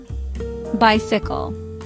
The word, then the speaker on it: bicycle: Bicycle, three syllables. First syllable is stressed.